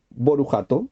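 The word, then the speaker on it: Baruch Atah: El Ashkenazí, que sigue la manera tradicional de pronunciar, dice, por ejemplo, Borujato en vez de Barujata. Dice Israel en vez de Israel. Dice Paisach en vez de Pesach.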